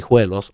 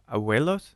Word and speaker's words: hijuelos: So we use the hijuelos, also clones of the agave. Abuelos? How do you say that? Hijuelos, which is the little plant that sprouts from the mother.